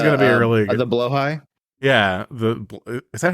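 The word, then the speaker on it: Blåhaj: plushy this was going to be really the blo high yeah the is that how you pronounce it blo high that is how you pronounce it yeah he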